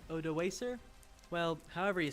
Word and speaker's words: Odoacer: by the Germanic general named, how do you pronounce that? Odoacer. Odoacer.